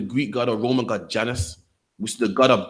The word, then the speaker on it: Janus: In ancient Roman religion and myth, Janus, pronounced Janus, is a god of beginnings, gates, transitions.